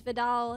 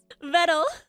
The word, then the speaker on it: Vedal: believe that I pronounced I pronounced it as Vidal instead of v vetal and and and and vetal and and and and I'm so embarrassed oh my God why am I like this why am I like this vetal vetal it rhymes with metal nuro pronounces it as